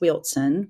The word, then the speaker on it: Wilson: Well, I grew up in Eastern North Carolina in a smallish town called Wilson, pronounced Wilson with a T. Wilson.